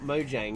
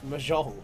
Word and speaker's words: Mahjong: It's not Mojang, is it? I did say I don't know how to say it. It's Mahjong. Completely different.